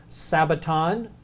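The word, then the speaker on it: σάββατον: two words to remember sabaton notice the Sigma there and that's Sabbath that's how they would say Sabbath and Greek sabaton is sabbath and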